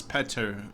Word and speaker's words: Petter: atlas ansensen petter um they really pronounce petter instead of peter over there like that